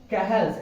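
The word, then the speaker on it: Cajal: आईटी सो इट इज कहल्स interest इंटरस्टिशल cell of कहेल इंटरस्टिशल cell of कहेल okay spelling होता है सीए जेएल ठीक है सीए जेएल इज the spelling लेकिन पढ़ते हैं कहल सो इंटरस्टिशल सेल ऑफ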